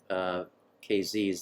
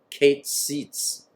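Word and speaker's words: Keziz: Valley so some Bibles will say the valley of Kasey's that's totally wrong it's Kate seats the valley of Kate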